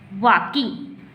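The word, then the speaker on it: walking: अब यहाँ पर देखिए एल लगा हुआ है लेकिन हम एल को नहीं पढ़ें क्योंकि एल यहाँ पर साइलेंट होता है, इसको वॉकिंग नहीं पढ़ेंगे, वॉकिंग, playing, studying, studying, टॉकिंग, ETC।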